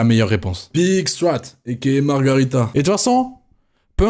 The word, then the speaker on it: margherita: On dit une pizza margarita ou margherita? Vraie question, j'ai toujours dit margarita. En sachant que ça s'écrit margherita. Margarita. Ah ok, ben voilà, je l'ai bien dit.